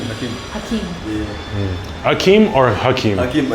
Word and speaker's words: Akim: Hakim. Hakim. Yeah. Hakim or Hakim? Hakim, but it's spelled A-K-I-M.